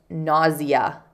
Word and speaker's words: nausea: So you could say the noun is nausea. I've also heard it pronounced nausea. It is written like nausea, but many people say nausea.